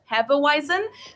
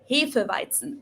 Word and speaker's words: Hefeweizen: Americans usually pronounce it Hefeweizen, but in German it's pronounced Hefeweizen. Hefeweizen. So the W and the Z are a lot harsher.